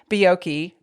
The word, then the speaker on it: Buiocchi: is not exactly easy to grasp, so I'll spell it for you. It's Buiocchi, B as in boy, U-I-O-C-C-H-I.